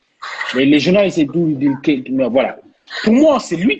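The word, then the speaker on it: Kean: Alors, juste, Moïse Kim, il est d'origine ivoirienne, donc il paraît que son nom se prononce Kéan.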